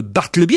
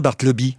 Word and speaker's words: Bartleby: chose en lui de Bartleby. Est-ce que je prononce bien Bartleby? Bartleby. Ouais. En tout cas, j'étais content que ce soit Bartleby parce que j'entendais beaucoup de gens dire Bartleby. Ah oui.